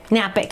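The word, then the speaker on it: Knapik: Spell it. No, it starts with a K. Be Napic. Napic. K-N-A-P-I-K. Napic.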